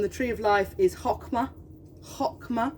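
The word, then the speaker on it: Chokhmah: tree of life is hokma hokma we don't pronounce the CH it is hokma and stands for wisdom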